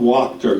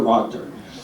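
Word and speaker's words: Wachter: one the digital doctor by Bob wter yes it Rhymes the digital doctor by Robert roor uh I am on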